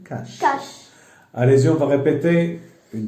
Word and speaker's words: cache: ليس ساش ولكن كاش.